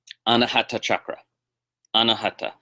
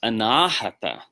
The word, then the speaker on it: anāhata: whereas anāhata means unstruck. So the vowel lengthening actually gives us the opposite meaning.